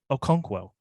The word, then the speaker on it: Okonkwo: his name a lot which is pronounced chigozim Okonkwo thank you